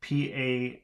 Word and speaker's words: passer: So that should be pronounced berner. And then we have P-A-S-S-E-R, should be passer.